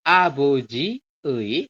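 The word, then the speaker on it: 아버지의: contoh yang ini ya tulisannya adalah aboji ei tapi dibacanya e jadi abojie shimbal seperti itu jadi teman-teman Bacanya adalah abojie shinbal shinbal itu apa shinbal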